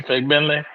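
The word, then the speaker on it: Fagbenle: like you're cussing Timmy Fentle. Yeah. That's how you say it. But you know you got to be careful saying you just got you just can't put the emphasis on the first syllable.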